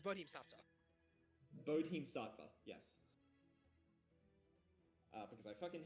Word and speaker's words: Bodhisattva: Oh, so it's Bodhisattva.